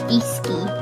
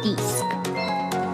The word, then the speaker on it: Disky: It is Disky, not Disc.